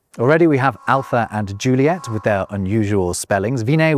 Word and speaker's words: Juliet: as P and that without the added T, the French would say Julier instead of Juliet.